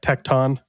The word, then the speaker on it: Tecton: blocker is so great do we have to have a pronunciation battle over tekon tekon tekon te tecton tecton ton like tectonic plates yeah I was GNA